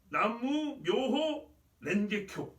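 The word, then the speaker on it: 南無妙法蓮華経: 그래서 일본 발음으로 뭐라 하냐면 나무 묘호 렌게쿄 이렇게 부르더라고요.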